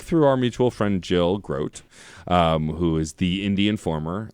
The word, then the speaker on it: Grote: Jill always says, my name is Jill Grote. It's like boat.